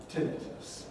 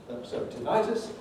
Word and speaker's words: tinnitus: escape the knowledge that the second vowel in this word is long added and therefore thought to produce i in english the latin strategy you know if you have a long vowel in the pronouncement it gets stressed tinnitus if it's short you get stressed earlier so temperatures so it's